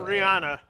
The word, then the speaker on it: Rihanna: And it's even funnier because you say her name wrong as well. What is her name? People have like worms Rania. in their brain, honestly. Rihanna.